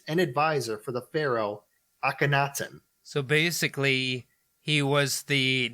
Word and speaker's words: Akhenaten: a high priest and advisor for the pharaoh Akhenaten.